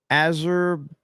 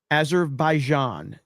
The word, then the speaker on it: Azerbaijan: Fish titty and Azeraijan. Azerbaijan. Is that right? Azerbaijan. Azer Azerbaijan. Azerbaijan. Azerbaijan. Somebody said yes. Lady Aaron D said yes. That's all I need. Lady Aaron D says I said it right.